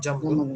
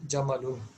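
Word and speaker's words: جَمَل: Not jamlun. It is jamalun. Jamalun. Okay. There is no sukun on meen. You have to pronounce correctly.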